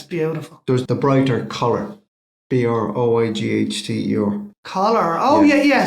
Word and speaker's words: Broighter: There's the brighter collar.